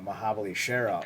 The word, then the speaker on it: Mahabali Shera: few TNA guys namely mahabali Shera or mahabali Sher depending on how you want to pronounce it like with Leon